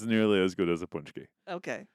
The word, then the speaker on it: paczki: soufgagnotte that's nearly as good as a poonch-kee.